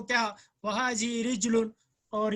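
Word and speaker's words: رَجُلٌ: रिजलुन और रजुलन की जो स्पेलिंग है वो तो सेम है, प्रोनाउंसिएशन डिफरेंट है। रा जीम लाम, रजुलुन मीन्स आदमी, लेकिन रिच लुन मीन्स पैर, पाँव।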